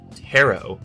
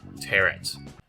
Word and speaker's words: tarot: video that i realize you're supposed to pronounce the cards as tarot cards and not tear it awesome sauce i'll probably